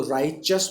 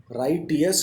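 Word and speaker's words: righteous: लगा रहे हैं तो राइचस बन रहा है, ये राइटियस नहीं बोलेंगे।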